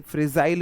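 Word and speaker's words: fragile: Frog मतलब मेंढक। और फ्रॉगिल ऐसे देख सकते हैं, फ्रेग, फ्रिजाइल इसे बोला जाता है। फ्रिजाइल मतलब फ्रिजेल बोलते हैं इसको, जो प्रोनाउंसिएशन है।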